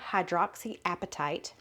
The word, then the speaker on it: hydroxyapatite: bokeh is a nano hydroxy appetite I looked it up that's how you say it toothpaste which supports